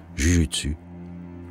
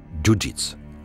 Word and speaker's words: Jujitsu: Elles sont dès lors connues sous le nom de Jujutsu, ou plus exactement de Jujitsu, comme cela se prononce en japonais.